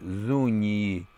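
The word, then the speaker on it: Zuñi: Это были индейцы племени Зунии, если писать латинскими буквами, то это будет Z-U-N-tilde-N, как оно пишется по-испански, да, то есть такая волнистая черточка на дно, и потом I, Зуни.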